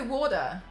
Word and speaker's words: water: It's softened, isn't it? It's like a rounded T. Oh yeah, and it's like a D. It's not. They don't pronounce it like a T. I mean, some people probably do, but like it's definitely a lot of it is the D.